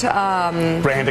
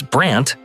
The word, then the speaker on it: Brand: At first, Brand smiled graciously. The host, mispronouncing Brand as Brant, chuckled nervously.